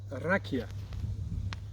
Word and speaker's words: Rakija: So the first cultural concept is rakia. It's written with J, pronounced with Y.